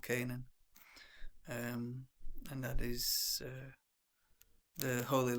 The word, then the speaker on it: Canaan: That is the land of Canaan or Canaan. It's spelt Canaan, so that's how I say it. But it's popularly said to be called Canaan.